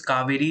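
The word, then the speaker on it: Kaveri: Next is कावेरी river या कोवरी भी आप इसको बोल सकते हो। However you want to pronounce.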